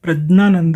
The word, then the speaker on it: प्रज्ञानंद: तो देखिए, प्रज्ञानंद जो है, इनका जो विशुद्ध नाम है ये तो प्रज्ञानंद ही है, यानी कि ज्ञ से ज्ञानी वाला जो होता है, ज्ञ का उच्चारण जो है, शुद्ध उच्चारण जो संस्कृत में होता है वो ज्ञ होता है, ज और न, आधा ज और न।